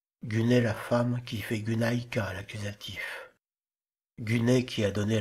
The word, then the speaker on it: γυναῖκα: Upsilon se prononce U en prononciation restituée du grec ancien mais a été translitéré Y en français qui se prononce i.